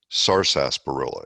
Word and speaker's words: sarsaparilla: in Australasia in the US they call it sarsaparilla well it's actually SAR sarsaparilla is that is the way it's spelled the correct way to pronounce it so